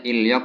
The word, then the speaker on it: 인력: Ini bacanya ilyok ya, ingat-ingat ya. Nian ketemu real ya. Ilyok dibaca L sekalian.